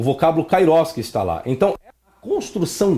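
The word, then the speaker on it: καιρός: Porque o tempo aqui no grego é kairos, ou kairos, como alguns queiram pronunciar.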